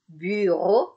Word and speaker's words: bureau: Orang kita sering bilang ini biro. Soalnya susah ngucapin biro. Ya, oke. Bagaimana? Bu. Oke, I-nya I cantik. U cantik. Bukan I, maaf. Pardon. Bukan I. U cantik. Ya. Bu. Oke. Bureau.